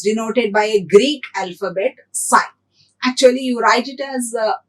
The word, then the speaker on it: psi: by a greek alphabet psi actually you write it as p s i p is silent here so we call it